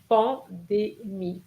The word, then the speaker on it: pandémie: Not pandemic. It's pandémie. Pandémie.